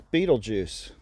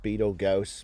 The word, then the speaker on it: Betelgeuse: So that's Betelgeuse. There's some discrepancy about how you pronounce that. I've heard Betelgeuse before.